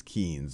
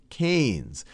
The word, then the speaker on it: Keynes: picture of john maynard keynes and i often mispronounce him as keynes because that's how it's spelled but it's john maynard keynes and he was an economist who did a